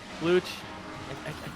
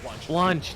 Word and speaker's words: Blunch: Blooch. I always say it wrong because I'm like, Blooch sounds wrong, and I start questioning myself. Think like lunch and then just add a B to it. Blunch.